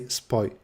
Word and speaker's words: SPOJ: I finally know how to pronounce SPOI. Yeah, so SPOI is a website that that was created by someone from Poland, and in Poland you say SPOI, just like in English there would be a Y at the end.